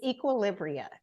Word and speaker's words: Equilibria: Please do me the honor of pronouncing your company's name correctly. It's Equilibria.